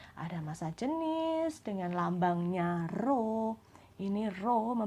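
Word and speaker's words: ρ: massa jenis dengan lambangnya roh ini ROM membacanya bukan huruf P ya dia memang mirip seperti peyang ditulis miring tapi roh bukan huruf P sekali lagi roh bukan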